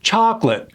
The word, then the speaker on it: chocolate: When you see a T at the end of the word, don't even say it. Chocolate.